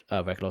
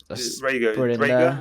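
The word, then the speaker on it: Jalen Reagor: They drafted Regular. Sorry. Then they always have Zach Ertz there. Rager, I think it's pronounced. Yeah, Jaden Rager.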